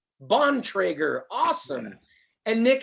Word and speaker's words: Bontrager: how do you say your last name uh bontrager bontrager awesome and nick how are you doing today